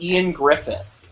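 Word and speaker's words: Ioan Gruffudd: name Eoin in grifols I think it's actually just Ian Griffith it's a Griffith I think that's pretty much how it's pronounced but he's Welsh and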